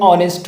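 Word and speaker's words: honest: यानी silent H से इसलिए दुरुस्त है एन ऑनेस्ट वे और ए ऑनेस्ट वे गलत होगा।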